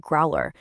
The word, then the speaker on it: Growlrr: Growler, that's pronounced Growler, was founded by an engineer whose entire career was spent designing high precision FDA regulated cardiovascular devices.